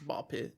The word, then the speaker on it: Ball X Pit: I know Ball X Pit, but I know it's pronounced Ball Pit.